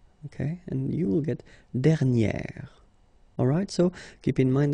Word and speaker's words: dernière: Okay, and you will get dernière. Alright, so keep in mind that you should put this accent grave and then you pronounce it like eh, okay, and then you add this at the end.